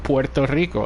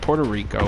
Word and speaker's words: Puerto Rico: and I tell them I said Porto Rico and I don't even pronounce it Puerto Rico or anything like that I pronounce it the way it's supposed to be and then they are